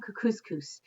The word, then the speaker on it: Kookooskoos: anyway welcome to camp cook couscous it rhymes with moose and that's another good